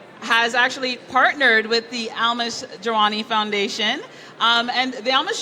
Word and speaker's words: Almas: My name is Almas, and I know some of you are having difficulties pronouncing my name. It's so simple. Almas, A-L-M-A-S.